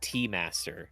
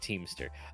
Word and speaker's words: T-Master: Thank you in your Sendo profile for saying it's pronounced T-Master. Okay, not Teamster.